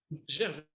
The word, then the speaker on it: Gervais: I'm going to say Gervais because I speak French. Gervais is the way to go.